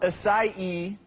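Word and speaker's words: açaí: so the Berry's pronounced aai even though it's spelled a AI it's 90% seed which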